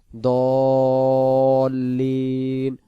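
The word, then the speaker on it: ٱلضَّالِّينَ: সুন্দর করে পড়েল আলাইহিম দ বলে মুখটা ফাঁকা ধরে রাখবেন লামের শেষে গিয়ে সংযুক্ত করে লিতে চলে যাবেন দল্লিন দল্লিন আবার লিন টান দিতে হবে যদি লিন টান না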